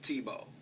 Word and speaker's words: Tebow: saying people rhymes with Tebow people rhymes with Tebow well I think I